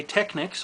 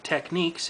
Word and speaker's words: Technics: This is actually a Technics, or Techniques if you simply must pronounce it that way, by Panasonic FM/AM stereo receiver SA-5170.